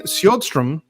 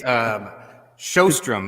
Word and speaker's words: Sjodstrom: I keep saying Sjodstrom. It's Showstrom, like you're going to a show and strumming a guitar.